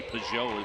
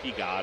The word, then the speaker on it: Pigot: Thank you to Noah Pigot, which he spells his name or pronounces his name wrong. It should be Peugeot the way it's spelled, but for some reason it's Pigot or Pigot or I don't know, some horrible pronunciation.